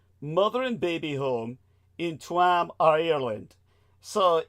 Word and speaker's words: Tuam: was the bonurus mother and baby home in Tam Ireland. So it's spelled B O N spaced S E C